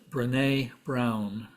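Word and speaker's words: Brené Brown: that's my own loss I believe her name would be pronounced brine Brown she described herself as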